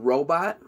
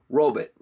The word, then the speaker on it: robot: they say the word robot robit' they say they put a butt at the end of it robit' if you're saying the word robot robit' you're saying it wrong I don't know why